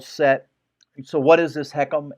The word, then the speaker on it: HECM: So what is this heckham? H ECM. It's it's just a high of excuse me, it's a home equity conversion mortgage. It's pronounced heckum.